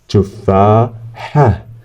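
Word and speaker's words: تفاحة: Tufaha. Tufaha. This is ha. Ha. And then we have a ta. A ta is at the end. We pronounce it like ha.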